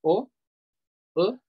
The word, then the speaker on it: au: Usamos AU, que se pronuncia O, O, cuando el siguiente lugar es masculino.